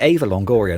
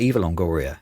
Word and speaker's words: Eva Longoria: Is it Ava Longoria, not Eva Longoria? Have I been pronouncing her name wrong all these years? Yeah, it should be Ava. I think we know her as Eva, but Ava.